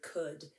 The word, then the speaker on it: could: and you could friends there's also something else a little tricky about the word could there's a silent l in here silent l's show up